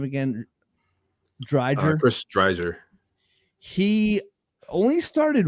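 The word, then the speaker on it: Driedger: The goaltender playing tonight, how do you pronounce his name again? Dreiger.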